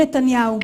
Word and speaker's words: נתניהו: Basta procurar um pouquinho para você encontrar o nome dele sendo pronunciado da forma correta em hebraico legítimo. זה היה לא אחר מאשר ראש הממשלה בנימין נתניהו.